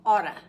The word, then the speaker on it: ought to: Sometimes it is pronounced oughta, like gonna, oughta.